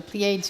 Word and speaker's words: Pleiades: My son was there to watch the meteor shower, the Pleiades meteor shower. Yeah. So that's how you pronounce it.